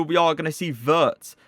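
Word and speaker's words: Wirtz: are going to see verts w is pronounced in german obviously with a v so his name is vert he could be another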